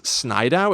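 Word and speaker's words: Snidow: one i like that his last name is snydow it's s s-n-i-d-o-w okay which sounds like if a toddler was pronouncing the name snyder yes you're right snydow connolly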